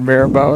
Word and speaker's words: Mirabeau: And I spelled the name and said Mirabeau, and you started laughing because that's what it's pronounced.